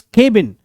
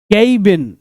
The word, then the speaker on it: cabin: लकड़ी का यह छोटा सा कोई घर, इसको प्रोनाउंस करते हैं केबिन, बट इट इज not pronounced as केबिन, इट is pronounced as केबिन. केबिन नहीं, केबिन.